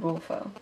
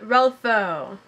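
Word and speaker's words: Rulfo: Stranger by Albert cus the next novel is Pedro Paro by Juan rfo it is not Pedro Paro by Jan ralo that's not right and the last last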